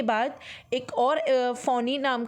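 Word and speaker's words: Fani: Okay, so this is द बेटा case study cyclone फानी, ठीक है। Basically it is pronounce as अ फोनी। Okay, फोनी because like a hood of the snake.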